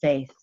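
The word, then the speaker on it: Fáth: It is true irony that the first word is pronounced faith, also known as the cry of the deer, which is another attachment to the head druid or the All-Father.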